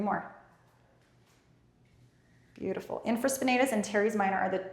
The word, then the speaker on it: infraspinatus: Infraspinatus. Infraspinatus. You got it. Good. 3 more. Beautiful. Infraspinatus and teres minor are the 2 muscles here that we're focusing on the rotator cuff.